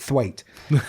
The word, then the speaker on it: Twat: Well, it's spelt twat, but he's like Mrs. Bouquet and he calls it thwaite.